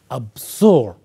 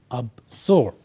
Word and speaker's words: absorb: into two parts or it has two parts the first part is AB second part is Zorb and when you pronounce it we focus on the second second part so we say absorb absorb right now what does